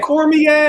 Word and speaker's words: Cormier: Cormier is the pronunciation.